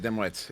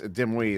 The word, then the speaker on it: Dimwit: am okay uh but my name is not dimwit it's dim we the t is silent actually there's everything in